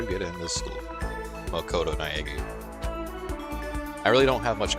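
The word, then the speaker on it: Naegi: My name's Makoto Naagi. Okay, I'm glad the voice acting was here for this specific sentence because I was probably not going to pronounce that last name. Makoto Naeki.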